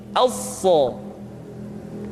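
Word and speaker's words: ث: Huruf sa sama seperti huruf sin dan huruf za, yaitu lidah berada di antara dua gigi seri. As-sa.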